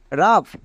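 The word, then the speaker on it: rough: কিছু এক্সাম্পল দেখো যেমন আর ও ইউ জি এইচ রাফ সি ও ইউ জি এইচ কাভ এবার এখানে দেখো ও ইউ এর পরে জি এইচ আছে তাই জি এইচ এর জন্য ফ হচ্ছে এবং ও ইউ এর জন্য আকার যেমন রাফ এ এর জন্য এ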